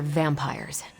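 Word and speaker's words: vampyre: The new breed I'm tracking are, they're vampires. I see. No, I do not. You already said they were vampires. Vampires with a Y? Pronounced exactly the same as vampires.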